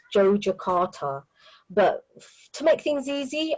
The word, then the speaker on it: Yogyakarta: And I do that because I think in Indonesia it's pronounced Yogyakarta.